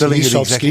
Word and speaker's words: Lisowski: So it's Lisowski, Lisowski.